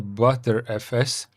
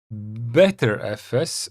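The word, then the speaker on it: Btrfs: officially the BG file system pronounced as a butter FS. Better FS or even butterf is a file system that that has been in development since 2007.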